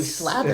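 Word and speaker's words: Slater: Kelly Slatter. That's how he told me he wants his name pronounced. Slather. Yeah, Kelly Slather.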